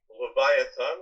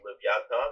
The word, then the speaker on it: Leviathan: So Leviathan, which in Hebrew is Leviathan or Leviathan in the Ashkenazic pronunciation, is mentioned, of course, in